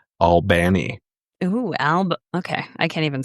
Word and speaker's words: Albany: Not to be And confused with a city that has the same spelling in Georgia, but is pronounced Albany.